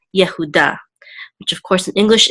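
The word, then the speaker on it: יהודה: will say da and accent mark is over the dullard so we'll give the last syllable to accent Yehuda Yehuda which of course in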